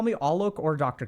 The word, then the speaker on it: Alok: Yeah, you can absolutely call me Alok. So if you need help with the pronunciation, it's not all maple, it's all.